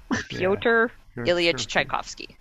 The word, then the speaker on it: Pyotr Ilyich Tchaikovsky: Pyotr Ilyich Tchaikovsky.